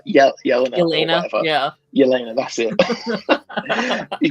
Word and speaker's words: Yelena: Yelena.